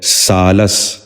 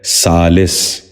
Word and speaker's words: سالس: ثابت۔ پانچواں لفظ ہے سالس۔ یہ غلط تلفظ ہے، اس لفظ کا درست تلفظ ہے سالس۔ دوبارہ سنیے، سالس۔ بچوں